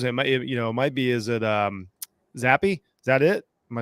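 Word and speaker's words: Zappe: Is it Zappy? Is that it? Am I saying it right? Yeah. Bailey Zappi, yeah.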